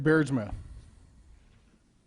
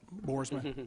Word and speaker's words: Boersma: Clem thank you beardsman I apologize I mispronounced to that Boersma come on up